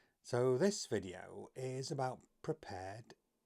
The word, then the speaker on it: Prepar3D: So this video is about Prepared. It is written Prepar3D, but it's pronounced Prepared.